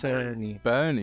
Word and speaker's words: Börnie: requested uh episode here um I believe it's pronounced project bourney project bery it's Bernie Bernie yeah it's uh it's my my wife